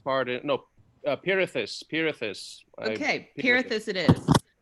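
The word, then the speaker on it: Pirithous: Oh, it is Pertheus. Pardon. No, Pirithus. Pirithus. Okay, Pirithus it is. I Yeah. know how to pronounce the name daughter, though.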